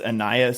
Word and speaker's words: Ainias: How do you pronounce the first name of? It is Ainias Smith.